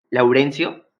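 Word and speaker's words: lawrencio: El Laurention, espérate, es que tiene una W. Nunca he sabido cómo se pronuncia la maldita W. Es Laurencio, Ajá.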